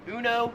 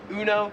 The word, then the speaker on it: Uno: the popular card game Uno in America we pronounce it Uno it's kind of like the Emu one Uno here it is more pronounced like uno number seven is car